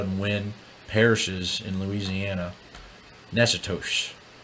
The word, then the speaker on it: Natchitoches: Natchitoches. This is what I understand that city to be pronounced as in Louisiana.